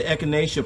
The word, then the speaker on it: Echinacea: It's spelled E-C-H-I-N-A-C-E-A, and that's Echinacea.